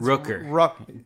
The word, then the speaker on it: Rooker: Rooker. 2 O's. Like, Rooker. Rooker.